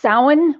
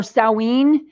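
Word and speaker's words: Samhain: is actually an old Celtic holiday it's it's pronounced soin or sau een and it is the night it's supposed to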